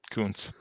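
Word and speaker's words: Koonce: Coons.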